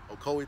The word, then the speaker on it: Ocoee: we're in Ocoee that's how you say it Ocoee Tennessee just about my fourth time coming here